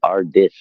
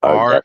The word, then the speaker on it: Ardeth: It sounded like you were saying Ardith, not Ardeth.